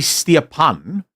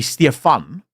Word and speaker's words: Stefan: Well, okay, so it wouldn't be Stepan, right? It would be Stefan, right? But it is, so it's a German name, but it is South African pronunciation.